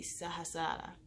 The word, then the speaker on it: Sahasrara: And that one is pronounced the Sahasrara.